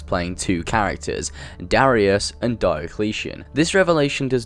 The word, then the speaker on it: Diocletian: __ ] oh ok its premise Diocletian as how you pronounce it I looked it